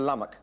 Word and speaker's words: Lummock: Lummock. Yes, I can never remember his name. I told you how to remember his name. It rhymes with stomach. Stomach Lummock.